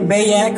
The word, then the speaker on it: Bayak: We have Nick Bayak on drums. It rhymes with haystack.